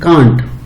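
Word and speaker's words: can't: इसको कैन not pronunciation में इसको पढ़ेंगे कांट।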